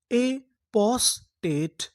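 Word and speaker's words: apostate: टी ई इसे क्या पढ़ना है? ट क्योंकि हमें आखिरी में इ का उच्चारण नहीं करना। तो पूरी मीनिंग क्या बनी? एपोस्टेट।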